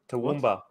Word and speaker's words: Toowoomba: How's this area pronounced again, Musa? Toowoomba.